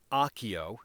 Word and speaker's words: Aokeo: So as we mentioned, it is the Aokeo is how you pronounce it, the AK-70.